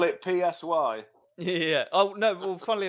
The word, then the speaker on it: Si: But when she pronounces my actual name, and I've had this a couple of times at gigs, people pronounce it C, like the Spanish for yes.